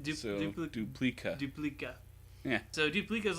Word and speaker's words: Duplica: Well, it's like a duplicate. Duplica.